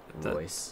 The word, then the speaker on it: Ruiz: Marco Ruiz. Ruiz. That's how you say his name.